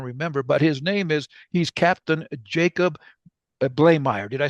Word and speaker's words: Bleymaier: I don't even remember, but he's Captain Jacob Bleymaier.